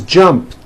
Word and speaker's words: jumped: So jump becomes jumped with a T sound at the end. Jumped. Of course, the word is spelled with an ed ending. It's just pronounced as a T.